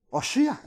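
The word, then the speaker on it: הושע: le gritaban oshi na Cómo se dice el nombre de oseas en hebreo oshia entonces oshia oseas y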